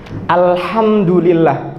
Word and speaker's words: alhamdulillah: Alhamdulillah pakai ha, bukan pakai ha. Kenapa saya tekankan mau pakai ha?